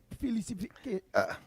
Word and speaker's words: silicification: Wait, Silicification. Yeah, SILICIFICATION. So a bit long, but yeah.